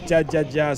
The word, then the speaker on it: jaja: Carlos still says jaja sounds like haha in Spanish.